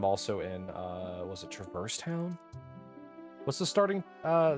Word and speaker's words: Traverse: that make sense it's it's the word Traverse like to go through the land to Traverse the area it's weird weird did